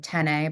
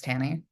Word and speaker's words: Tanney: I can say it's like Tanney, but it's Tanny.